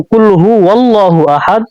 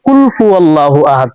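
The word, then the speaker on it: قُلْ هُوَ ٱللَّٰهُ أَحَدٌ: তো কুল হু ওয়াল্লাহু আহাদ, আর আমরা সবাই কুল ফু আল্লাহু আহাদ পড়ি।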